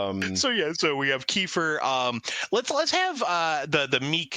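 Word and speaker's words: Kiefer: we we wrote down Kefir for some reason, like Kefir Southerntherland. So, and Oh, he's he's totally a pthead, too. Well, yeah, because his name rhymes with reefer.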